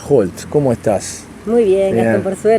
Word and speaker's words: Holt: Y Holt también suena la H.